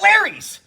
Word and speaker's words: Larry's: The name rhymes with Mary's. Mary's. Oh, I got it. Larry's.